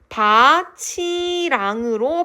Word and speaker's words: 밭이랑: 나는 논이랑 밭이랑 다 갈았다 했을 때의 이항은 조사예요. 조사는 형식 형태소죠. 그래서 이때는 또 국의 음가 일어나요. 논이랑 밭이랑 할 때. 그래서 이때 이랑은 조사 형식 형태소이기 때문에 국의 음악가 일어날 수 있는 환경이 일어나서 바치랑으로 발음을 하는게 정석입니다.